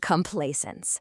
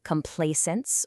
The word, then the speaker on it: complaisance: And here it is, complaisance. The pronunciation is actually beautifully subtle. You can say it like complaisance, or sometimes you'll hear it with a slightly harder Z sound like complaisance.